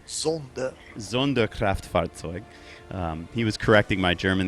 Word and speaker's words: Sonderkraftfahrzeug: You have to pronounce it Sonderkraftfahrzeug. Sonderkraftfahrzeug.